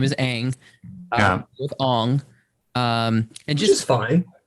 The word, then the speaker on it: Aang: But Sam Worthington as Ong. Because that's the way we pronounce his name in the M. Night Shyamalan. Yeah. Not because we have multiple, episodes of the animated series where his name is Aang.